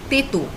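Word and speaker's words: তেঁতো: taste bitter is again the n is in brackets so not a full n it's pronounced as teto examples are corolla bitter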